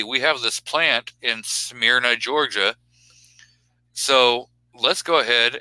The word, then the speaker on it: Smyrna: wait say the name of the town again Smyrna all right all right um we're just talking about how to pronounce all right what's your heritage I'm a redneck it's Smyrna yep but yeah so they're uh they're gonna